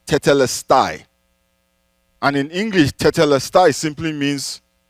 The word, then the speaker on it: tetelestai: as it is finished is a Greek word that is pronounced tetelestai and in English simply